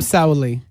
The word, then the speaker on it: Sauli: Because I am Sauli.